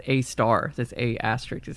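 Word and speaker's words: Sagittarius A*: the Empire 4, Apprentice Sagittarius A, which I learned is actually pronounced a star.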